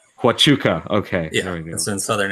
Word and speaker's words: Huachuca: know how to pronounce this for who you pronounce it co you don't want to wrote this Oh Fort Huachuca Huachuca okay you know in southern Arizona yes and